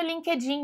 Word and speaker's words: LinkedIn: me adiciona no Linkedin não é assim que você vai falar você vai falar LinkedIn LinkedIn LinkedIn Então você fala bem rápido linked linked in LinkedIn LinkedIn tudo bem Não LinkedIn como a gente fala aí do jeito aportuguesado você gosta daquele chocolatinho